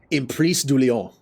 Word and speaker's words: Emprise du Lion: Okay, so that's how you pronounce it. Emprise du Lion.